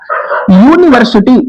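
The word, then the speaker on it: university: यूनिवर्सिटी इसका भी pronunciation या से प्रारंभ हो रहा है।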